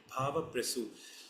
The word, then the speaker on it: Bhavaprasu: is referred to as Bhava Prasu. I repeat it, Bhava Prasu. If I have to spell it in English, it is BHAVAPRASU. It's a Sanskrit word.